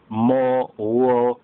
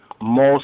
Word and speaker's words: mot: Now they have mos here, that's how the Ashkenazis, they pronounce it, because the list, their ethnic list, they pronounce the TH of a S sound. More correct is mot, M-O-T, which means death.